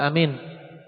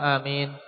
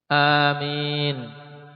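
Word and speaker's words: آمين: bacaannya pun harus benar ada berapa Lughah atau cara baca untuk Amin Ismail dua yaitu dengan mad pada hamzahnya yaitu Amin yang kedua hamzahnya pendek saja Amin ya ini dua cara baca dan yang salah kalau sampai di tasytiit Amin ini salah karena makna jadi beda baikinin di anara kesalahan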